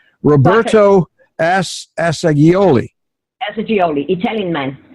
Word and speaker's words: Assagioli: Roberto Assagioli. Assagioli, Italian man. With a G, Assagioli. Yes. And she met with a woman running the Psychosynthesis Center of South Australia, and that woman explained to Beverly Assagioli's theory about personality, and